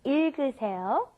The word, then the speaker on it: 읽으세요: Yeah, you got a double consonant there again, right? The I sound at the beginning, then it goes to the L, il, it goes in that order, il, and then g, that last G gets moved up in front of the next vowel.